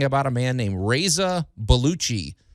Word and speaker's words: Baluchi: a man named Reza baluchi just not not spelled exactly like John Belushi but pronounced a lot like it he's a 51 year